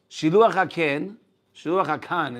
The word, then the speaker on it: shiluach hakan: You have certain mitzvot that give you certain sachar, such as shiluach hakan is the right way to say it, and kibud avayim is arichut yamim.